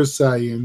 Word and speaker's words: Saiyan: Super Saiyan, you got it right.